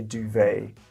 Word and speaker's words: duvet: English to you because we don't pronounce the letter T at the end we just say duvet so it sounds pretty